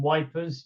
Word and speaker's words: Ypres: the Squaddy would sort of a bit like Ypres and Wipers. They're kind of the way that they would pronounce things.